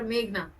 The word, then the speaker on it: Meghna: Meghan or Meghna? Sorry, ma'am, just a Meghna.